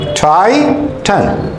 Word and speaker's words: Titan: But here, this word here, this is Titan, Titan, Titan.